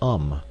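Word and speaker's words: homme: bark he learned from darno that it was pronounced um and in the same way he was taught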